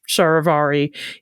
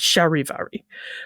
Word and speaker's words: charivari: as you correctly guessed from that initial CH pronounced like sha our English word shivery SL sharvari is a direct borrowing